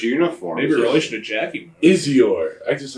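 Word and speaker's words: I'Zior: Dan spells it right, and I hope I pronounce it right. Izior Moon. What is it? Izior? Izior.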